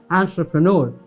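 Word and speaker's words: entrepreneur: वैसे तो हमारे पास ये प्रोनाउंसिएशन काफ़ी टेढ़ी हुई रहती है, कहते हैं एंटरप्रेन्योर, कोई कुछ कहता है, बट the right pronunciation goes as एंटरप्रेन्योर ही इज़, एंड ही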